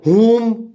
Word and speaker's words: whom: And if I say who, WHO, W is silent. Whose, then whom, WHOM, whom.